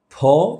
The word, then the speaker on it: ফ: করে থাকি ফ নাচছে ইংলিশ এফ ফ্রুট ফাইন সেটা এমন ওটা ফ্রুট ফাইন এমন না কিন্তু এটা এমন ফুল ফোটে ফুল ঝরে ফ এখন এই উচ্চারণটা আমরা যখন করি আমরা যেহেতু দুটো ঠোট লাগাই যখন আমরা রিক্সাওয়ালা কোন